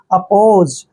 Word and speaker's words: oppose: ओ आता है तो ओ का उच्चारण हमने ए करना है, और डबल पी को हम पै पढ़ते हैं, ओ को ओ की मात्रा पढ़ते हैं, और एस ई का उच्चारण यहाँ पर जय करेंगे। जब भी एस से पहले ओ आता है तो एस का उच्चारण जय करते हैं।